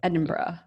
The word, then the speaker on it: Edinburgh: to Edinburgh I pronounced that wrong did I pronounce it right yeah Edinburgh it's only like I think like an hour